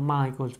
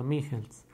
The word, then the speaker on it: Michels: esser robert wickens che esse un alemanno incontra pronunciando michael pero notte su una lehmann se pronuncia robert michels es una figura importante nella teoria della elite